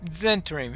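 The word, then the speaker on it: Zhentarim: Okay, Zentarim. In other words, the H is silent there. Either that or slight aspiration, or who knows?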